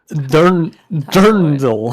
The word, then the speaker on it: dirndl: How do you say the dirndl part?